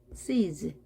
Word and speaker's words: sees: 영어에서 모든 모음은 유성음입니다. 떨림이 있습니다. 따라서 z 발음합니다. sees.